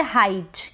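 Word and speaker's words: height: इ आई को हम पढ़ेंगे हाइट। क्या पढ़ेंगे? हाइट। अब हीट नहीं पढ़ेंगे।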